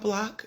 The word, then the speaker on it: BLCK: say that again BL when you're thinking about block you can think Airbnb minus the lodging fee